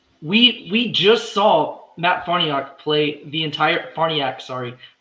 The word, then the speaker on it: Farniok: saying the players names his name has been one of the most butchered names because i've heard yak forniak farniak party apparently it's barniak so we just saw